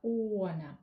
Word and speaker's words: honor: Such an honor it is! Итак, что мы здесь видим? Слово первое «она» у нас идет. Обратите внимание на произношение. Никакой буквы «h» у нас здесь не стоит.